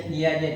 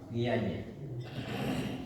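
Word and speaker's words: Piaget: Constructivism ये पियाजे था, पियाजे spelling में टी है लेकिन क्या मतलब क्या है।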